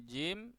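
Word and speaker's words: جيم: Ya, ini jim, shin, kemudian ya.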